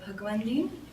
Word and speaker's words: Bhagwandin: uh maybe first my name is bhagwandi first name last name b h a